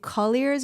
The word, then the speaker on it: Colliers: joining me today so did I pronounce it correctly is it Colliers or clears yeah Colliers yeah yeah right yeah so it is